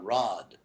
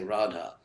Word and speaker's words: Radha: so it's actually Pima you can't drop a long a at the end of the world a word you can't say Pima you can't call Radha Rod I mean you got to say Radha Rama is called Ram